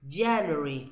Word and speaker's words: January: Look, January. January is stress in the first syllable.